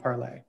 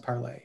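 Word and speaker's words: Parler: social media Network called parlay MH um spelled it's spelled like parlor and a lot of people call it parlor but apparently it's pronounced parlay in the French way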